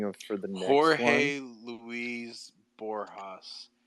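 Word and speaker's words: Borges: that you're thinking of for them Jorge Louise borjas it's spelled Borgeous I always say just b-o-r-g-e-s right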